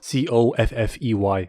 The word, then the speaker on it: Coffey: John Cappuccino, liked to drink but not spelled like it. It's spelled Coffey.